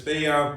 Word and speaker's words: Fajuan: that's why I yeah the J is silent all right you know